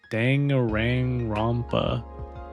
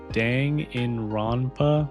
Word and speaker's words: Danganronpa: Daniel says there's 2 ways to pronounce Danganronpa. The informal way is like Danganronpa, but the official way is Danganronpa. Okay, yeah. The first Dan is pronounced like Dan in my name.